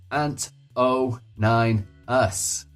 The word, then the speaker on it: anto9us: And remember, it's pronounced Ant09us.